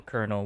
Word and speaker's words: colonel: it tells to the colonel what the USB device is telling him okay I'm ass you me Colonel by the way that's c o l o n e l no R but it says Colonel anyway so